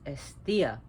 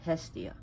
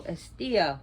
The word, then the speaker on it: Hestia: be pronounced as Thea the H is not pronounced it's estia not Hestia so estia who is she she